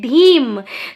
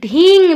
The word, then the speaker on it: धीम: के वीज मंत्र है धीम धीम या तो फिर उच्चारण के बदल करके आप लोग धींग भी बोल सकते हो धीम धीम धीम